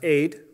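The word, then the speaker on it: עד: These two letters, it's like an A and a D sound, are pronounced aid, and it is a word that means a witness or a testimony.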